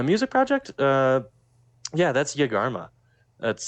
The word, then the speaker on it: Yegarma: Uh, yeah, that's Yagarma. That's spelled Y E G A R M A.